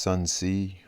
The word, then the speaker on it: Sun Tzu: chapter 2 of The Art of War by Sun Tzu it's actually pronounced Sun C aging of War Master son said in war